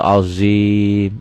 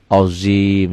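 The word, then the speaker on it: عظيم: Nih ya, wala haula wala quwata illa billahil aliyil azim. Gak ada yang berubah ya, cuma cara pengucapannya. Azim, zo ini azim, ZHO, ZHO kalau berbaris patah. Ini azim.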